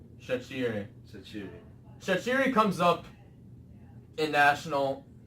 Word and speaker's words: Shaqiri: Ray, if you would like to pronounce them. So the Jaka and Shaqiri. Not Shaqiri. Shaqiri. Sachiri.